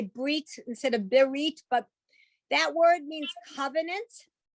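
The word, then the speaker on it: ברית: But if you look at the word and say beris as opposed to berit, we say berit.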